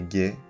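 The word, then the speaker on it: 下: dessous ou en bas sa lecture on est gay comme dans G la diarré on peut aussi retrouver sa lecture h dans geta qui sont les sandales en bambou traditionnel qu'on met avec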